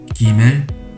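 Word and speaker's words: גימל: 기멜, 기멜, 기멜, 기멜. 지멜이 아니고 기멜입니다.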